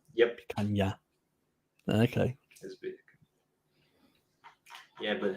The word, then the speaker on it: picanha: Yeah, this NH is a bit of a pain in Portuguese. Okay, so it becomes like a double N nearly. Yep. Picanha.